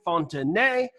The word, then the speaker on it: Fontanet: I'm here with my friend Jeremy Fontanet. I am pronouncing a silent T because he is French.